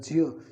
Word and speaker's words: ज्ञ: इसी प्रकार से जो ये दे रखा है ज्य, ये ज्ञ नहीं है, इसका शुद्ध उच्चारण होता है ज्य, क्योंकि यह झ और ज्य से मिलकर बनता है, इसलिए इसका शुद्ध उच्चारण होगा ज्य।